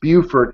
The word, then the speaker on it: Beaufort: carolina and fellow cruisers that's beaufort north carolina and beaufort south carolina and woe be unto you if you're in beaufort and you pronounce it beaufort you will not make the locals very happy but north of beaufort